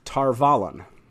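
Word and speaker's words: Tar Valon: okay here we go everyone told me that the correct pronunciation was tar vallen and i was like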